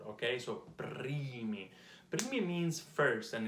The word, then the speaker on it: primi: Listen to my R, primi. How do you roll your R? It takes a long time, but it's basically like vibrating in my mouth. It's basically the touch on my tongue with my the floor of my mouth, okay?